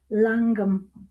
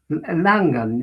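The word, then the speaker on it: Llangwm: Can you pronounce it or do I need to ask ClariS? Where did you grow up? Langum. Langum. Langum.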